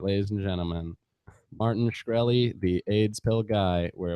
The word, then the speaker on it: Shkreli: You have Martin Shkreli's number.